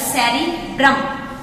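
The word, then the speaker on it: cerebrum: इसको हम कैसे प्रोनाउंस करेंगे? ये कहलाएगा सेरिब्रम।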